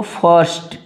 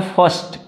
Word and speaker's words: first: तो द फर्स्ट, देखो FIRST है, तो इसको जो है ऐसे देखो फर्स्ट, तो ये आर जो होता है ना ये साइलेंट हो जाता है, फर्स्ट।